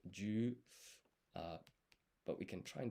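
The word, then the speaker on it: じゅ: So this ji and yu becomes a blended syllable, ju.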